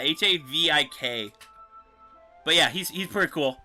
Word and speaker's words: Havik: Like, I haven't even looked up Havoc yet, but I'm pretty sure it is Havoc. Havoc, Mortal Kombat. Havoc, but it's spelled different. It's like there it is, yeah, Havik.